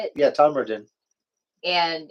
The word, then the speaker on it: Todmorden: yeah, Tommerton.